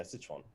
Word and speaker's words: Sichuan: The financial administration of the, I don't know how to pronounce this city, Sichuan? Sichuan? Yeah, Sichuan.